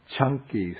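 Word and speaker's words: Caṅkī: this is called the chunky Su the C in poly is pronounced like ch so it's like chunky peanut butter okay we dedicate the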